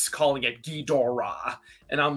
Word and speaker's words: Ghidorah: Because like the Japanese pronunciation, the way it's written down in Japanese is Ghidorah, Kingu Ghidorah.